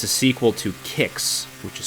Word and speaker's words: Qix: And it's a sequel to Kicks, which is spelled QIX, a game that I've played a little bit on Atari with this concept.